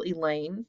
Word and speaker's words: Elaine: scared i can handle elaine rhymes with pain if you don't say